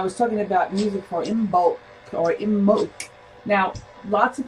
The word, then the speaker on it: Imbolc: Now it's spelled IMBOLC, but it is said in the Gaelic way, Imbolc, Imbolc.